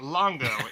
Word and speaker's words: Longo: again longo hello sorry i think i've pronounced it three different ways since uh we started but longo is correct okay so i'm going